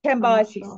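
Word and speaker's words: Cambyses: the story of cambisis canvases is it canvases how do you say it Judah is it can be canvas says chembis um I think it's generally canvases but kambiasis thank you can buy actions against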